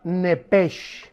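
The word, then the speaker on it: נפש: ahí arriba de alma la palabra nepesh, como suena. Nepesh con SH, como suena, que es la palabra en el hebreo para alma.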